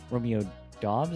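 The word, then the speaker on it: Romeo Doubs: Romeo Dobs, I think is how you say his name, 2 for 25.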